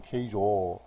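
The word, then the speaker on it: 京城: 일본 발음으로 케이조.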